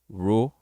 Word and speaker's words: rule: Não é difícil, tá bom? Mas não é tão fácil. Você vai falar rule. E aqui é all, rule, rule. LE em inglês tem som de O.